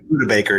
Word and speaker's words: Budda Baker: What about how's it pronounced? Budda Baker, right? Yeah, Budda Baker, yeah.